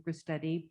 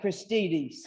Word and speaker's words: Gristedes: My great-grandfather, Christian Bang, was the first butcher with the Gristetti brothers, or so I've been told. Was the early Gristetti's market a customer of your family? Okay, I would pronounce that Christides. Right, sorry, So that's that's my okay.